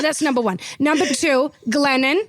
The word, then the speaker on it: Glennon: Number two, Glennon. Okay. Rhymes with uh lemon.